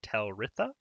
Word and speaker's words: Talritha: Alrighty, the aforementioned buff card is a 3 mana 3/3 legendary minion for Paladin, Dragon Rider Talritha, that's how you say it.